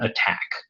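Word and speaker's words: ATT&CK: every method of known attack and so they call this the attack framework it's spelled a little weird the second a is an ampersand but if you search for mitre attack you'll find it very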